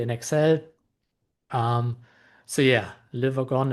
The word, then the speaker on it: Le Wagon: Um so yeah liver gone it's pronounced liver gone right so this is now a little AI